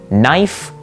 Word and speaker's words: knife: However, over time, English speakers realized it would be so much easier to just say knife, and so we dropped the K sound.